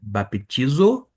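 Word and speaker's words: βαπτίζω: Note que no grego é baptizo e aqui fica batizo.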